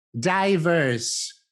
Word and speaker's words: diverse: Diverse, diverse. Ricordatevi che in italiano la vocale I deve essere pronunciata sempre e comunque I, non ci sono eccezioni.